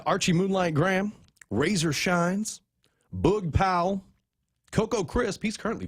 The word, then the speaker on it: Boog: We got Archie Moonlight Graham, Razor Shines, Boog Powell, Coco Crisp. He's currently playing. Isn't it Boog? Not Bug. It's Boog, isn't it? Boog. I thought it was a Powell. Boog. Double O.